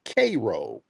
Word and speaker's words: Cairo: place in Illinois called Cairo Illinois but they pronounce it cro so that's did you see okay oh than